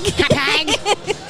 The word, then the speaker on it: Hauppauge: I am still live at Tropic Con in Long Island in Hauppauge, right? That's how you say it, Hauppauge, right? Hauppauge.